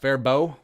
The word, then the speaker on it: Faribault: Rolling past Fairbow. That's how you know you're from Minnesota, is that you know how to pronounce Fairbow. As opposed Faribault.